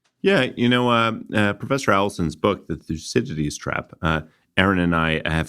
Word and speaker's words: Thucydides: Charlie, you've spoken a lot about Thucydides today, and as you were doing so, you made me think of Graham Allison's famous book, The Thucydides Trap.